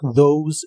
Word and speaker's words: those: La TH se pronuncia como una D vibrante y la O como OU. Al final termina con un sonido vibrante de la S o Z inglesa. Those.